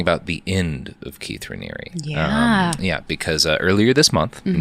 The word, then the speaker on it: Raniere: Raniere?